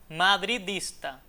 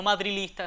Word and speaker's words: madridista: como tal Madrid y agregarle el sufijo ista, madridista y no madrilista. Eso, ese cambio por la L es un uso impropio que debería evitarse. Así que los madridistas a pronunciar bien esa palabra con la D adecuada.